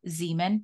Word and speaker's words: Zemon: have a special guest his name is Zeman did I pronounce that right Zan you did you okay